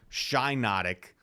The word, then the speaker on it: Shiinotic: obvious pronunciation Pokemon ever it's obviously shy notic but this thing is